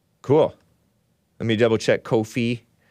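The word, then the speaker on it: Ko-fi: let me double check Kofi it's pronounced Kofi not Kofi KO hyphen f i radical homosexual support in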